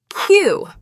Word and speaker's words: queue: Moving on, let us look at the word queue. It means a line of people waiting. Why are there 5 letters if you only say Q?